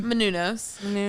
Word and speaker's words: Menounos: How do you pronounce her last name? Menounos.